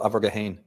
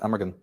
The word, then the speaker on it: Amergin: In Celtic tradition, one of the earliest poets of Ireland, the precursor to Merlin, was called Abergahain, or in English you pronounce it Amergin.